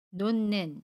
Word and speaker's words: 놓는: 에서 받침 흙과 첫소리 자음 미인이 맞나요 그러면 놓는 이라고 발음합니다 같이 미혜 슨 니은 으로 발음하고 요